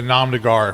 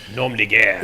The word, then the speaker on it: nom de guerre: de Gar, which is I said that very poorly, I know. Nom de guerre. Nom de you go. Guerre. Thank you very much. Say it like you are the French.